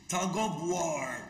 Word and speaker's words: tug of war: الاف هنا بتتنطق في فهنقول كده Tug of War.